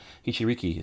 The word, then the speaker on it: Hichiriki: The reading it is different for us in the West, but the actual pronunciation, all the syllables, you pronounce every syllable. Hichiriki sounds, spells just like it sounds.